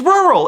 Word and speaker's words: rural: There's no TH in it. It's rural.